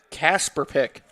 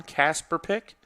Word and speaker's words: Kaspik: played by Sha kaspik let me double check I have the pronunciation right Casper pick so Sean Casper pick everyone celebrating down on